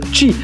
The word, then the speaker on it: Qi: par induction, le rechargement qui s'écrit QI et qui se prononce Qi.